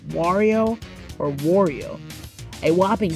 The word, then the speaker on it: Wario: He said it should be pronounced Wario because of the I in the name making an E sound or something like that.